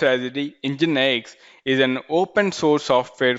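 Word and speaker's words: NGINX: If you see formally it is pronounced as the EngineX is an open source software for web serving, reverse proxying, caching, load balancing, media streaming, and many more.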